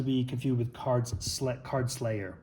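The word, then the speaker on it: Cards' Lair: we have uh the cards layer not to be confused with cards SL card Slayer which what I first first heard this this pronounced I thought it was being called the card Slayer it's the cards layer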